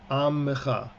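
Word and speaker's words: עַמְּךָ: They'll talk about amcha, but the word is actually not pronounced that way in biblical Hebrew. Modern Hebrew people say amcha all the time, but the correct way to pronounce it for our purposes is amcha. Amcha.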